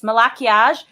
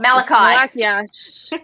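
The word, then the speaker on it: Malachiasz: i was like and remember it's malachiage it's not malachite yeah okay so milla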